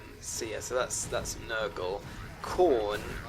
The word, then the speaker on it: Khorne: Khorne, which is not as in the vegetable. It's spelled Khorne.